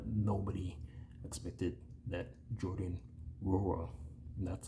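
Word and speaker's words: Nwora: with Bruce round not nobody expected that Jordan ruro that's how his name is pronounced I've heard it's not no got the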